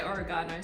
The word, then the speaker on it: oregano: to say or oregano Americans say oregano but we say oregano so I like to